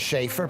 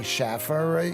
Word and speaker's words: Schaefer: getting it right well my name is Schaefer people say Schaffer you just got to